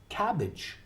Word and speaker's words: cabbage: a g e well this sound in English is itch i CH listen cabbage okay baggage a tea